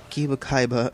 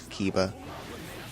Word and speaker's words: Kiba: And I think that Kaiba, crap, man, I really have to figure out the proper pronunciation. I think it's Kiba.